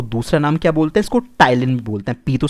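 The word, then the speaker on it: ptyalin: होता है इसको दूसरा नाम क्या बोलते इसको टाइल इन बोल तक पीड़ितों साइलेंट रहता है टाइल इन थे सलाइवा के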